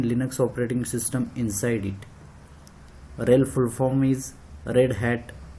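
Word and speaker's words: RHEL: Just pronounce rail 9.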